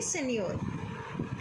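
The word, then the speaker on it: signor: ठीक है, इसकी प्रोनाउंसिएशन होगी सेनियोर।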